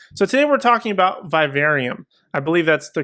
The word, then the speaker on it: Vivarium: So today we're talking about Vivarium. I believe that's the correct pronunciation.